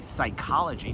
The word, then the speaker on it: psychology: So one person can handle the psychology. Nobody asks why psychology the P is silent.